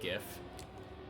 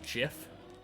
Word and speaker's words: GIF: Sure, he might have made it, but just because it's spelt like giraffe doesn't mean that you say the G like giraffe. It stands for graphic.